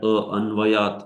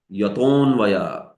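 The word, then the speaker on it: यतोऽन्वयात्: You don't pronounce that anvayat. No. Yaton vayat. Straight. Yaton vayat.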